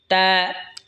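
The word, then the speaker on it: تاء: এরপর এটা হলো তা। তা জিহ্বার আগা সামনের ওপরের দুই দাঁতের গোড়ার সঙ্গে লাগা উচ্চারণ হবে তা।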